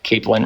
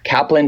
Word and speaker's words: Kaplan: Capellin wrote, "What Capel did not say that is a judge." Okay, apologies for the mispronunciation. Kaplan did not say, "In my opinion as the judge, Trump raped Kaplan."